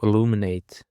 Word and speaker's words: illuminate: Now guys for the seventh word we have illuminate. Illuminate. Illuminate is a four syllables and the stress is on the second syllable.